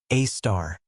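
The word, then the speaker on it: Sagittarius A*: We have arrived at Sagittarius A, pronounced A star, the supermassive black hole at the center of our Milky Way.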